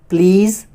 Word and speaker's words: please: team, dream, steam, cream, please, tease, lease, increase. Though here S, but its pronunciation is Z.